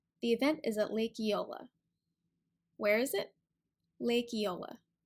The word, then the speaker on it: Eola: lips around really close together really quickly EO Eola the event is at Lake Eola where is it Lake Eola that's how we